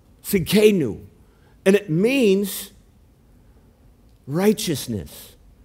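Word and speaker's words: Tsidkenu: the word here is jehovah and the t is silent it's sid kenu see kenu and it means righteousness it's peter uses it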